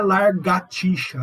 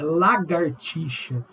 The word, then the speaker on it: lagartixa: Não é largatixa, é lagartixa. Então, as pessoas escrevem muito errado.